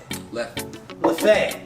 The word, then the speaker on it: Leffe: Although I'm pronouncing that in sort of Spanish. It's Jeffe. I think that's an L. Oh, I it's believe an L. Leffe.